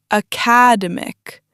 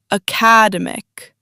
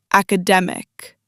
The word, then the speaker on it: academic: People say academic with heavy stress on the second syllable. But the correct stress is on the third syllable. academic, academic, academic.